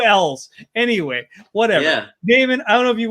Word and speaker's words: Damon: So, Damon, that is how you say your name, correct? Damon. Well, that's how I say it. No one says it like that. People mispronounce my name constantly. Really? Damien.